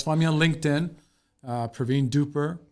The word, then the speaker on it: Dhupar: So you can always find me on LinkedIn, Parveen Dhupar, right there. So Parveen, last name Dhupar. Got to pronounce it Dhupar, so not Dhupar. Yeah, Dhupar, Spell it all out.